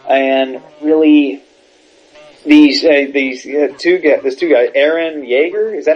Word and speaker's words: Eren Yeager: Yeah, Fantasy Earth, and really, these two guys, Eren Yeager, is that how you pronounce it?